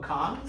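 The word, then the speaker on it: Bacán: And we know the Wave Hotel is going to have a steakhouse, a high-end restaurant called Pecan, spelled like bacon, but pronounced pecan.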